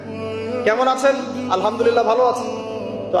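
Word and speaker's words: الحمد لله: আপনি পড়ছেন আলহামদুলিল্লাহ শব্দটা কি আলহামদুলিল্লাহ এই হায়ের মাখরাজ কোথায় কোথায়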